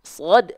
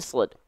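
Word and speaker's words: صاد: kasih isyarat dua ini shod. Perhatikan, su, si, si, su, su. Bisa dirasakan nggak teman-teman? Ya, gitu. Shod kasroh bacanya gimana? Ya baca aja seperti huruf sin tapi pangkal lidahnya diangkat.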